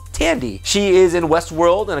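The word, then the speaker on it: Thandie: pronounce her name because she has an H in there but it's not fan D its Tandy she is in Westworld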